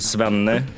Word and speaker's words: Svenne: Sven, did I pronounce that correctly? Let me just ask that first. Yeah, my father is Sven, but it's called Svenne.